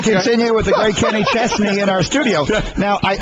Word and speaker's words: Chesney: I just noticed the exact I've always called you Kenny Chznney as though the S is pronounced like a Z.